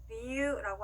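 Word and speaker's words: 理由: 자, 이유라고 하는 일본어 단어는요, 리유라고 하는데요. 자, 유우라고 따로따로 읽어주는 게 아니라 유를 그대로 늘려줍니다.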